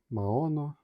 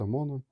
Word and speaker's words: Maono: It says Maono, but correctly it should be pronounced Mono.